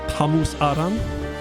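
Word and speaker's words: Samus Aran: I do think it's cool that her name in Chozo is apparently pronounced Tamus Aran. Like, it's not Samus or Samus, it's Tamus.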